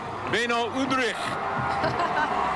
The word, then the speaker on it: Beno Udrih: explode rush onus Maravich and done you should pronounce it this way Beno Udrih this pain oh and Rosco and Britt berry